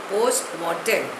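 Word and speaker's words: post mortem: टी ई M pronunciation is also the same पोस्ट मर्टन इट इज a Latin word it means examination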